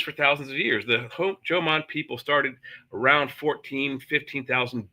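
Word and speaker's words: Jōmon: the the ancient Homman Jan people and they it's pronounced Joman J- O M O N just like the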